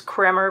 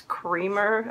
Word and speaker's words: Kremer: She sent me to this company called, well, we thought it was Kremer, but it's Creamer. Apparently it's pronounced Creamer.